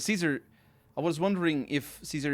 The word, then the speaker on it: Caesar: kaizar caesar i don't i wonder also wonder why he pronounces it kaizar but cause caesar i was wondering if